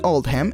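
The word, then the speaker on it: Oldham: la de la escuela esta elección se hizo para reflejar la pronunciación de oldhem en el acento local que es out One en consecuencia rendir homenaje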